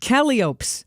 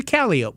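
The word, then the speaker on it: calliope: the clowns to the copes I learned how to say it correctly it's not cop no it's a calop more to learn from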